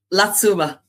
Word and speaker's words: La Tzoumaz: Apparently, the locals told me that if you just say Satsuma, then Latuma is the correct pronunciation.